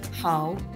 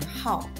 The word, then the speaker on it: 好: In Chinese, this character has two pronunciations: hǎo and hào, and the frequency of the pronunciation hǎo is much higher than hào.